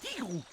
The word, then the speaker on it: Tigrou: Salut, je suis Tigrou T I double GR. Ça se prononce Tigrou.